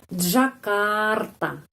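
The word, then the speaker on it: Джакарта: De kalau berdua kenapa karena dalam bahasa Rusia tidak ada huruf j huruf j tidak ada Jakarta enggak ada J penekanannya di sini Jakarta Jakarta jadi cuma membaca tiga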